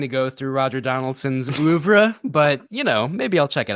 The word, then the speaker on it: oeuvre: I feel like you have to really pronounce it, as French as possible whenever you say it.